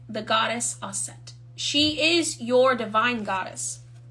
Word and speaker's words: Aset: isis is goddess assad her name is goddess asset but many people pronounce it isis you are a magician